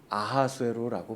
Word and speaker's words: 아하수에로: 페르시아에서는 그렇게 불렀는데 그럼에도 불구하고 그 왕을 향해서 지금 아하수에로라고 부르는 사람들이 있었습니다. 바로 유대인들이에요. 페르시아식 이름을 유대식으로 발음한 것이 바로 아하수에로입니다.